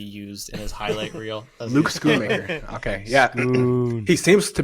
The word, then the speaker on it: Schoonmaker: Is that how you pronounce Schoonmaker. it? Schoonmaker? Schoon.